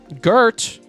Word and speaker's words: Gert: Gert rhymes with squirt.